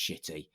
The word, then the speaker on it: Shitty: And so when I first got his application, I was like, it can't be pronounced shitty. And he phones me up and he goes, "Hello, Mr. Mark. It's Mr. Shitty here."